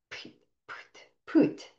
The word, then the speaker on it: pyt: around and they go "Put, put, put," and they do this little hand gesture, put. So this is a Danish word that PYT are the letters, but the it's pronounced like put, put.